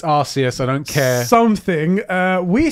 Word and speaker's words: Arceus: First of all, it's R-C. Yeah, it's not Arse. Just because you put Arse there, it doesn't mean that's the way we meant it. Yeah, it's Arceus.